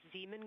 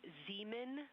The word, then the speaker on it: Zeeman: Integrity science, we believe that's Zeeman crater. Oh, I floated away from the speaker. Say it again, please. We believe that that is Zeeman Crater. Zeeman.